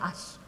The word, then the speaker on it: Ashe: Dia bernama Arthur Ashe. Emang tulisnya Ashe, ya, tapi saya udah cek dan bacanya Ashe, gitu.